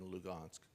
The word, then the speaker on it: Lugansk: donbass in donetsk and lugansk luhansk i'll slip back and forth between russian and ukrainian pronunciation so bear with me